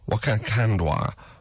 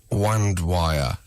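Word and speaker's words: Mkandawire: amongst very specific footballing circles, close brackets, Tamika Wakandwaya. Mkwandwaya. It's a very difficult name to pronounce.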